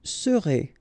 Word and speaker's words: serez: Vous serez, a Z together at the end, et serez, all right?